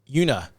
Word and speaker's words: Uinta: The T is silent. Una. Yep. Unia.